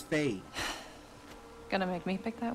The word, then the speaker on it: Faye: I don't want to say her name wrong. Although they just said it. Is it Faye? Yeah, it's Faye.